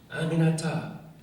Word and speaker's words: Aminata: Aminata, 4 syllables. It's really not that hard.